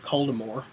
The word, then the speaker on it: Voldemort: I think that they should have gone with Coldemore, personally, but Oh, I see you're going with the French pronunciation. That's the correct way.